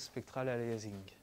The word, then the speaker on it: spectral aliasing: On prononce souvent à la française spectral aliasing.